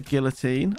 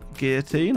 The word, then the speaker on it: guillotine: and add a guillotine I know it's pronounced Guillotine I have to say this every time because somebody's never watched me before will call me out for my pronunciation where I grew up we called it guillotine sorry it doesn't match your uh your pronunciation okay light bulbs finally